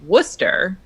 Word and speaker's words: Worcester: Well, but then the other example I can think of a city name that is where it looks a lot longer than the way it's pronounced is like Worcester, where you pronounce it there you where go.